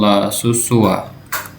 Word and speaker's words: La Susua: Burada yanlış yazmış. Bunun gerçek adı L de var burada. La Susua diye okunur arkadaşlar.